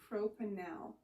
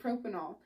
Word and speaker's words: propanal: this word before today, you probably would have pronounced it propanol. But remember, up here, this is propanol. So propanal, we have to make sure that when we pronounce these things, we change that A to a short A.